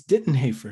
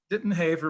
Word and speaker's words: Dittenhafer: of clarification here one i believe i mispronounced your last name uh it's ditton haefer is that correct didn't have her but you're certainly not the first person you know to do that okay well i apologize